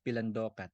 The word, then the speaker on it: Pilandokan: You say it as Pilandokan.